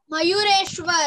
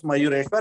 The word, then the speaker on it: Mayureshwar: Mayureshwar. People also call him Moreshwar. Okay. Because the original name was Mayureshwar.